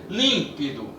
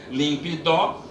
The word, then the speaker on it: límpido: é a sílaba tônica é límpido não é a última se não ficaria limpe dó não é a penúltima sinal ficava límpido e é a antepenúltima e essa daqui tem